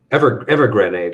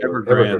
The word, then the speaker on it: Evergrande: How is that how you pronounce it, Gerry? Evergrenade. Evergrande.